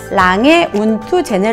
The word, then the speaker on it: 랑에 운트 죄네: 로 있어요 그래서 다시 가운데 보면 & 가 있잖아요 이걸 영어로는 깬 되지만 불어로는 운 프라 고 한데요 표 영상 보시는 분들중에 독일어를 잘 하시는 분들은 더 잘 아시겠지만 온 투 라는게 & 인데 a 는 사실 아돌프